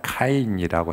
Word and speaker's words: 카인: 뜻 우리 성경은 가인이라고 히브리 본문은이 발음이 가인이 아니라 카인이라고 해야 정확한 바람인데 우리 영어식으로 표현해서 다행이라고